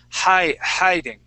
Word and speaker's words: hiding: Hiding. Okay, more of it like a hey into that. So just attack that and use that long I sound.